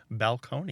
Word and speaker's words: balcony: always surprises people that the word balcony was orig pronounced balcone balcone yeah but it fascinated